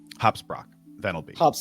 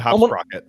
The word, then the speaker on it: Hopsprock Venelby: Hopsprock Venelby. His name's Hopsprock Venelby. Yeah. I said Hopsprocket. His name's Hopsprock Venelby.